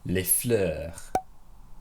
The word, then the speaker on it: fleurs: how you say flowers in french le fleur les fleurs les fleurs les fleurs les fleurs flour